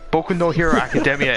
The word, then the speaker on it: Boku no Hero Academia: Kudo academia hey hey boku no hero academia is how it's pronounced thank you very much